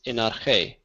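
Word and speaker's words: ἐν ἀρχῇ: But that little iota subscript is the case ending for the dative singular. It's not pronounced. So when I say this, it's enarche.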